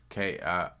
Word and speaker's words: Kirshnik: The Migos rapper, whose real name is, I'm not gonna pronounce it, it's right there. But if you listen on the podcast, it's Kirshnik.